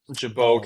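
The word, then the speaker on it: Gibault: Gibol Gibbalt Catholic there in Wateroo. Yeah, Jabau. Jabi Catholic, I I think is technically how you pronounce it.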